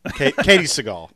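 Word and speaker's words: Katey Sagal: Katie Seagal. Okay. That's the way she pronounces her name.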